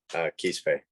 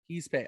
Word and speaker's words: Quispe: Quispe. Quispe.